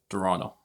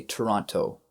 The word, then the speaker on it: Toronto: I mean, when we say that in Spanish, we say Toronto. Right. We knew it as Toronto. Yeah. So we drop that T.